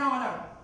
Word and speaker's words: honor: So at the beginning of any word, if H and O comes together, H is silent. Then we will use articles also with exchange because the sound comes as a vowel. So what we will use always an honor, an hour, honest, an honest person.